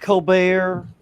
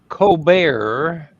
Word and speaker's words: Colbert: Fallon, Kimmel, Steve Colbert, the guy that comes on after comes on after Jimmy Fallon, Seth Meyer.